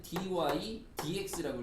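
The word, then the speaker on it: dy/dx: 하지만 읽을 때는 분수가 아닙니다. 그래서 뭐라고 읽으셔야 되냐면은 dy dx라고 읽으시면 되고요.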